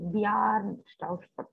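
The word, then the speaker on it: Bjarne Stroustrup: And BJ is there, but actually it should be pronounced as BY. So Bjarn Stoustrup is the way you should pronounce it.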